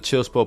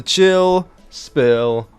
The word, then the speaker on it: Chill SPill: Anyway, guys, this is the 62nd edition of the Chill Spill podcast. The S is silent, by the way.